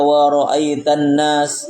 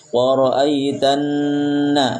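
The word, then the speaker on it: ورأيت الناس: itu ditahan jangan tergasa-gasa jangan kita baca waroaitanas waroaitanas gak tapi waroitanna ditahan asapnya sampai sini yang belajar sudah mulai cium-cium Ya.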